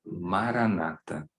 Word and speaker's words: Maranata: Main, é que ela seja repetida em 4 sílabas iguais, para que a gente nem foque na palavra em si. Então seria, por exemplo, ma, ra, na, ta, e assim sucessivamente.